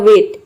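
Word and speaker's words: weight: है यहां पे देखिए जब भी जीएसटी एक साथ आता है तो वहां पे जी हा साइलेंट राहत है इसमें जी हा साइलेंट है और टी को हम प्रोनाउंस करते हैं तो टी का हो जाएगा टी ये पूरा हो जाएगा वेट वेट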